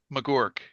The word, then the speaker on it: Magouirk: Morg. It rhymes with dork. Um, so when I was,